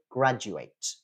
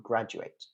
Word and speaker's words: graduate: you do is you graduate graduate notice that the stress is on the first syllable it's not on the last one but it's still graduate you graduate now what does that